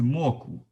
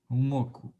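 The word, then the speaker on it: 墨骨: This is Mogu. Here, this character pronounced as the third, the fourth tone. Mogu. Mogu, meaning boneless.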